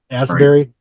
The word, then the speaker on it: Astbury: How do you pronounce his last name? Is it Asbury? Asbury.